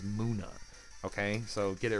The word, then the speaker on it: Munna: I think Pokemon Company came forward and was like, hey guys, it's Nummel, and Munna is not Munna, is Munna.